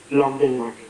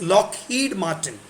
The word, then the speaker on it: Lockheed Martin: Locked in Martin. No, it's Lockheed Martin. It's not locked in. Lockheed. Lockheed Martin.